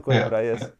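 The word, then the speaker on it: Coimbra: pronounce him correctly but Miguel qura Miguel KRA yes Miguel KRA yeah I think he's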